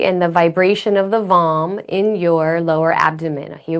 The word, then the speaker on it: vam: We can chant the mantra vam, spelled v a m, pronounced v a u m, vam, We can do the hand mudra.